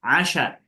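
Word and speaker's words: عَشاء: Asya naul asya fil isya. Naul asya fil isya. Isya itu malam atau siang? Malam. Malam. Nah, untuk makan malam ganti i kasrah menjadi a.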